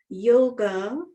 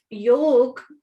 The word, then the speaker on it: yoga: point to emphasize that yoga yog actually yoga the actual pronunciation is yog which means union so